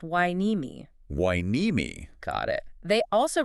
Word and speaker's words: Hueneme: And uh, another local pronunciation note for you, the city is pronounced wine-e-me.